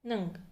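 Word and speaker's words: ㅇ: ये friends actually एक व्यंजन है जिसका उच्चारण होता है नंग। लेकिन जब ये स्वरों के साथ आता है तब ये साइलेंट हो जाता है।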